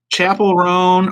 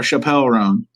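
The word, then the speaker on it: Chappell Roan: Is it Chapel Roan or Chappelle Roan? You said it right the first time.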